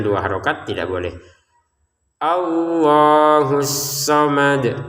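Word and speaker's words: الصمد: Allahus somad. Kata asomad di sini dalnya kita pantulkan lagi ya. Allahus somad. Kenapa? Karena kita berhenti di sini.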